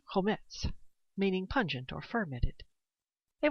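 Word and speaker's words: חומץ: Now, vinegar in the Old Testament Hebrew is pronounced chometz, meaning pungent or fermented.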